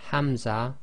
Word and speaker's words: Hamza: so the letters are Hamza and the soft ha now Hamza in Arabic represents what we call the gloal stop now in English you